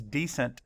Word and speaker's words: decent: Makes an open syllable with a long vowel sound.